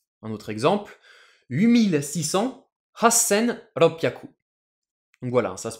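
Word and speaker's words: ろっぴゃく: 600, roku hyaku, on va prononcer ça ropyaku, la petite pause et l'accent.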